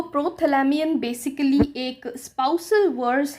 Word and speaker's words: Prothalamion: इट इज़ प्रोथैलेमियन एंड नॉट प्रोथैल्मियन। बहुत सारे लोग इसको प्रोथैल्मियन प्रोनाउंस करते हैं, which is very wrong. The correct pronunciation to this is प्रोथैलेमियन एंड इट्स अ poem written by Edmund Spenser, not poem.